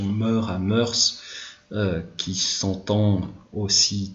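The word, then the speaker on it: mœurs: ligature c'était les moeurs on préférera la prononciation moeurs hammers qui sont en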